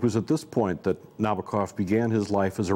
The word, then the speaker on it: Nabokov: masters of English prose, the Russian-American writer Vladimir Nabokov, or as Americans say, Vladimir Nabokov.